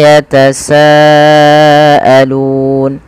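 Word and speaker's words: يَتَسَاءَلُونَ: Amma baru dilepaskan Amma yatasaalun kemudian PSA di sini ada mad wajib muttasil yang di mana kita harus memanjangkan bunyi sa sepanjang at atau Li harakat dan tidak boleh dikurangi tidak boleh misalkan Amma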